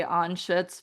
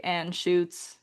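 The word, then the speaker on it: Anschutz: Forgive me for if I pronounce this wrong, but um anuts I think it's a German word, so I say anuts, but a lot of people angllicize it and say an shoots.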